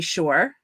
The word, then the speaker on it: Shore: before my name is Shore it rhymes with entrepreneur I don't think so it's close enough I like it my my journey has